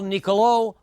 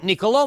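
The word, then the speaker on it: Niccolò: first name is mispronounced you've got an accent on the last o and that means it's Nicolo rather than Nicolo so Nicolo makavelli is going to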